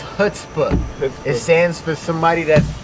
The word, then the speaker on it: Chutzpah: What's your I know it, but I don't know how to pronounce it. I changed it. Chutzpah. It's Chutzpah.